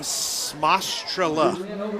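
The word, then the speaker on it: Smajstrla: How do you say that again? Smostrela. S-M-A-J-S-T-R-L-A.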